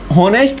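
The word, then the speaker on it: honest: में डाउट होगा की ऑनेस्ट नहीं होता ऑनेस्ट होता है यहां पर हा साइलेंट होता है तो हमने पढ़ा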